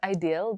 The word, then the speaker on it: Idyl: call it a deal sometimes I call it ideal even though I know that the proper way of pronouncing it is ideal but I just love